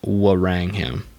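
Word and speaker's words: Wrangham: rangham rang rang them i think it's actually pronounced warang him have argued that cooking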